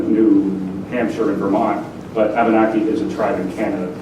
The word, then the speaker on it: Wabanaki: heard us speak heard Abenaki, because our Wabanaki, our soft W, was not picked up by the ears of the French or the English or the Portuguese or